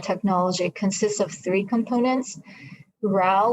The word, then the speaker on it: WRAO: So our product, WafCharm technology, consists of three components: RAO, which is spelled WRAO, SciNeural, and SciHorse.